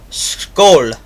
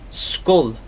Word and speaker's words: Skål: Or no, it's Skål. It literally sounds just like this, and it's spelled S-K-A with the little O on top of it, L. And it's pronounced as this is spelled. It sounds like they just spelled it as it would sound in American, Skoal.